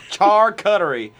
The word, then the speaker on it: charcuterie: know how to say it our video crew car cuttery there you go charcuterie okay sorry barney okay well hey you can